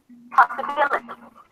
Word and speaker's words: possibility: So no matter where the stress is at the beginning, once you add the suffix, stress falls on the one syllable before the suffix, the one syllable to the left of the suffix.